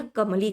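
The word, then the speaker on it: comely: इसे हम क्या प्रोनाउंस करते हैं भैया? कमली करते हैं।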